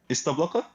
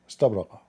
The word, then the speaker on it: استبرق: استبلق? استبرق. Say it correctly.